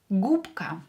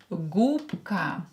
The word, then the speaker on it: губка: Губка. Here B will be pronounced as P because it's near voiced K here. Губка. Губка. Voiced consonant near another voiced consonant will become unvoiced. B will become P.